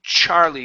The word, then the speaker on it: Charlie: let's practice the name Charlie give me a good CH instead of char char Charlie Charlie Charlie there you go much